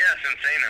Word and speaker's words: Sinsaenum: I guess the first question I have would be how did Sinsaenum am I pronouncing that right? Sinsaenum? Yeah, Sinsaenum.